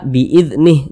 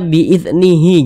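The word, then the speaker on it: بِإِذْنِهْ: kita di huruf Ha ini kita baca illa biidnih Jangan dibaca biidnihi jangan tapi huruf h-nya ini kita sukunkan atau kita matikan Kenapa kok huruf h-nya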